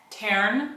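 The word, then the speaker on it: Tairn: Taryn. Is that how you pronounce that? Yeah. Okay. Taryn.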